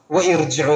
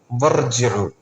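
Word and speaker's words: وَارْجِعُوا: ഇർജിഉ എന്നല്ല വർജിഉ. വർജിഉ റാ സുക്കൂനാണ്.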